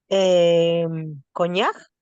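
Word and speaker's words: cognac: Consonantes finales C, Q, L, F en general sí se pronuncian. ¿Cómo leo las dos primeras palabras, Lucía? Coñac, Muy bien.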